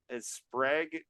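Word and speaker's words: Sprague: the merman by L I always pronounce it wrong sprag or Spar I think it's sprag DeCamp um who uh you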